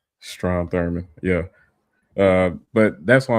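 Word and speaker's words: Strom Thurmond: passed they stayed Democrats all but two uh Strum uh Thornberg or however you pronounce his name. Stro Thurman.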